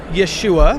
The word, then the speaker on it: Yeshua: I'm a Jewish believer in Yeshua, which in the Middle East is the Hebrew, that's how you say his name, Jesus.